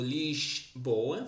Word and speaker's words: Lisboa: Esse, esse S eles pronunciam como s carioca, como biscoito, lix boa.